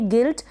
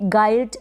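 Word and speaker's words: guilt: और गिल्ट है, इसको प्रोनाउंस करेंगे गिल्ट। गिल्ट का हिंदी में मीन होता है अपराध, दोष या फिर कोई गलती होना, गिल्ट। इसको आप कभी भी गाइल्ट नहीं पढ़ेंगे।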